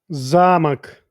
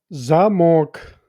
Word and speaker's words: замок: With the accent on the first syllable, Замок. it means a castle. But shift the accent to the second syllable, Замок. and suddenly you're talking about a lock on a door.